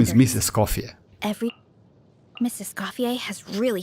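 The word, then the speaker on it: Escoffier: Scofier.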